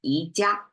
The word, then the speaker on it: 宜家: All right, and then phonetically, 宜家 sounds just like IKEA, right?